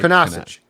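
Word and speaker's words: Kunaszyk: And I don't have the pronunciation guide. He's been placed on IR. Kunaszczyk, right? Kunaszczyk.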